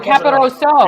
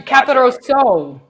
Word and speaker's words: Caporoso: Is it O or A? Because this whole time I've known you, dude, I thought it was O. It's the O. It's the O. Oh, I'm saying it wrong. Caporoso. Yeah. There you go. You're going to really hold on the O at the end there.